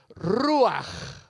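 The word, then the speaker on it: רוח: Antiguo Testamento es es la palabra ruaj a ver ustedes los españoles saben pronunciar bien la J ruaj ruaj ruaj quiere decir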